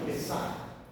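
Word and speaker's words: Pesach: Aliás, se pronuncia em hebraico Pessach.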